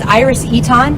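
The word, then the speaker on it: Iris Eytan: your name really quick yes my name is iris eton it's spelled i-r-i-s-e-y-t-a-n you so much for watching and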